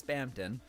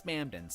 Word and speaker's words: Spamton: It's Spamptonton. G Spamptonton. No, Squirrel. No, no, no. She She likes Spamton.